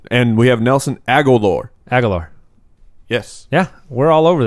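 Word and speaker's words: Agholor: Agalore.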